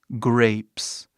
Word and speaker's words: grapes: Próximo aqui nós temos uvas, que no inglês seria grapes. Vê aqui, esse é mudo. Novamente. É mudo, passa o som, o E, fala seu nome.